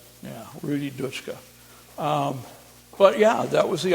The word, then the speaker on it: Dutschke: It's Dutschka, which in German should be pronounced Dutschke. Yeah, Rudi Dutschke.